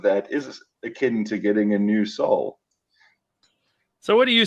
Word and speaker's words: Anusol: then, being the literary scholar and grammar pedant that I am, pointed out that it's spelt as one word, capital Yes, A N U, yes, capital S O L. So that's right. a new soul.